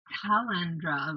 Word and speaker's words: Calandra: Well, I Cal- called her Calandra, like calendar, Oh yeah, Calandra.